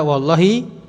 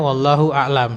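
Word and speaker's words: والله أعلم: Misalkan tulisannya wallah a'lam, itu nggak mungkin dibaca wallahi kemudian belakangnya a'lam. Kenapa? Lah a'lam itu apa? Kalau cuma satu kata kan nggak mufidah, nggak ada faedahnya. Dan maka itu bacanya wallahu a'lam dan Allah Maha mengetahui.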